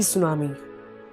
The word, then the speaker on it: tsunami: World T सुनामी, टी is silent तो we will pronounce it सुनामी।